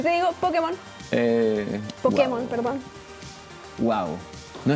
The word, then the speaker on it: Pokémon: como monst de bolsillo le agregaron el tilde en la E en Estados Unidos porque si no hubiesen pronunciado pokmon Ah entonces por eso le pusieron le el tilde sonara como Pokémon pero en España le